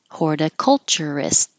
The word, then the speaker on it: horticulturist: Horticulturist. Hold that final T.